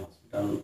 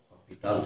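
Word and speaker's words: L'Hôpital: Actually এসটা উচ্চ থাকে, সেজন্য হসপিটাল উচ্চারণ হওয়ার কথা না, উচ্চারণটা অ্যাকচুয়াল হওয়ার হচ্ছে হপিটাল, কিন্তু অনেকে এটা ইউজ করে।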